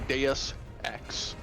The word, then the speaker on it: Deus Ex: By the way, you're totally wrong because the U isn't silent like that. It is actually Deus Ex. Yeah, that's what I said. Well, The I mean, U has a little more emphasis on it than that.